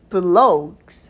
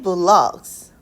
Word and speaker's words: vlogs: 브이로그는 요렇게 쓰는데 이걸 브이로그라고 읽지 않고요. 발음이 vlogs 라고 읽으셔야 됩니다. 자, 우리가 발음을 다시 확인해 보면 I usually watch travel vlogs. vlogs 이렇게 돼야 돼요.